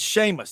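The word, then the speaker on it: Seamus: know how to spell s EA m u s that's Sheamus that's the Irish the gaic pronunciation Boomer Sooner SEC better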